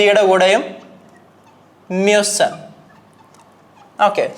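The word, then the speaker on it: müssen: കൂടെ മ്യൂസൻ മ്യൂസൻ അപ്പൊ ഇവിടുത്തെ ഉച്ചാരണ വ്യത്യാസം നിങ്ങൾ നോക്കുക ഇവിടെ ഇഷ്ന്റെ കൂടെ ഉംലാവ് ഇല്ലാത്തതുകൊണ്ടാണ് ഇത് മുസ് എന്ന് വായിച്ചത് ഇവിടെ മുസ്റ്റ് എന്ന് വായിച്ചു ഇവിടെ മുസ് പക്ഷേ ഇവിടെ എത്തിയ സമയത്ത് മ്യൂസൻ കാരണം ഉംലാവ് വന്നതുകൊണ്ട് ഇനി നെക്സ്റ്റ് വരുന്ന സമയത്ത്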